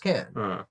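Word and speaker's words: Cannes: them she's like oh I went to can and it's pronounced can oh maybe it is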